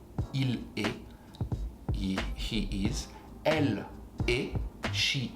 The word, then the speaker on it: il est: Il est, same sound, even if the spelling is actually different, you're gonna say est, il est, he is.